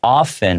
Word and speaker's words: often: These letters were often hard. That T sound, I'm making it silent, so that's a choice that I make.